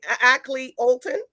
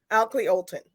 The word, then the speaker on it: Akley Olton: are you I'm good I pronounced your name actually Ackley Olton is that right it's actually Alton Oakley Alton okay and it's it's